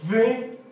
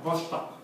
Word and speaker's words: Vostok: Es el lago, igual que las naves espaciales, con V-O-S-T-O-K. Se pronuncia Vostok.